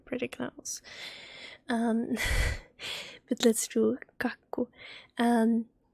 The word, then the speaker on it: kakku: You pronounce the K at the start, and the A, and it's ka, and then there is a double K in the middle of the word. That means that you need to pronounce the K 2 times. So you do it kak, kak, ku, ku, kakku, kakku.